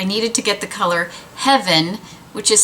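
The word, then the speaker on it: Hevyn: And I hadn't planned on picking up another one, but so many of you said I needed to get the color Heaven, which is spelled H-E-V-Y-N.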